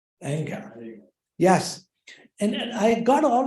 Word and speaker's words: Iyengar: Iyengar.